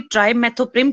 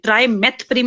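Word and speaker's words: trimethoprim: Drugs के साथ specially ट्राइमेथोप्रिम के साथ कंबाइन करते हैं, जिसे को ट्राइमोक्साजोल कहते हैं। ट्राइमेथप्रिम नहीं है, ट्राइमेथोप्रिम में टीएच के बाद ओ भी आता है, वो लगा लेना इसकी स्पेलिंग में, ठीक है।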